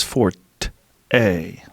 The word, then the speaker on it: forte: it wrong okay for forte with that a right there - uh-huh so there's two different ones huh but it might be like selfie how it just creates itself over a while yeah a thing that someone excels that small talk was not his fort a or forked well maybe fort was original and then someone kept it up like tumeric yeah terms yeah